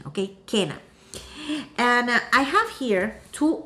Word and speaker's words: Kena: cana christmas uh and it's not quina it's kena that's the correct the correct uh uh pronunciation okay kena and i have here